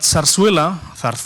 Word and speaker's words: zarzuela: But zarzuela in Spanish, because we pronounce with a th, is nothing wrong with my tongue, it's just the right pronunciation.